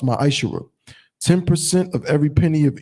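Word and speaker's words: מעשר: It means 10th in Hebrew and is pronounced ma'ashera.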